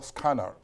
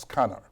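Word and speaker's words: SKANR: their employees and it's what i call scanner you know that's the pronunciation but essentially s k a and r pronounced scanner now the s stands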